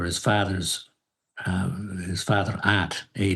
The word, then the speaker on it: Ad: father's uh his father aunt, A D. I guess the D is pronounced as a T. I'm not Dutch, but that's what I'm told. And aunt junior had written the